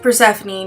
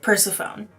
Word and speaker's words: Persephone: And yes, for all of you who didn't know, Persephone is pronounced Persephone, not Persephone.